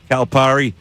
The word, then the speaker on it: Calipari: By the way, calipari calipari how you pronounce the word p a r par.